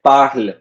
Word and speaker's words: parlent: It is not pronounced at all. ENT is not pronounced at all. It's just pronounced as in this. Elle parle. Okay, you're pronouncing it as parle, but you just write it. When you write French, you have to write ENT at the end, but you never pronounce ENT.